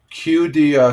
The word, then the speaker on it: Qiddiya: Qdia City.